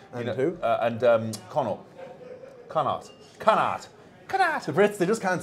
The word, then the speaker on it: Connacht: Connacht.